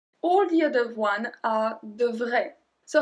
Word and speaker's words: devrait: So here you can see that all of them have the same pronunciation. Devrait. Devrait. That's it. It changed a bit with the S or the T, but the pronunciation is exactly the same.